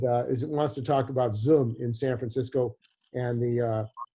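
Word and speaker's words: Zum: there are several companies the main one is pronounced zoom just like you know what we're talking about but it's spelled z-u-m and this is a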